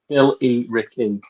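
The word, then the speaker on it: Billericay: looking to that hang God how do you pronounce biller Ricky again Bill Ricky Bill Bill e Ricky yeah uh so that that seat in particular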